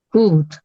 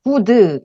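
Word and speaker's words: good: 그죠 그다음에는 드 합치면 굿 굿 이렇게 되죠 그래서 굿 이제 이거를 발음하게 제가 여러 번 말씀드렸지만 구드 이렇게 발음하시면 안 되고 얘를 끝에 소리를 굉장히 약하게 발음해야 된다고 했어 짧고 약하게 그래서 들었을 때 약간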